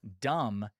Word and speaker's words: dumb: Dumb has a silent B in it.